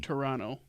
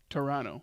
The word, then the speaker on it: Toronto: Toronto. Yes. Toronto. The second T is silent.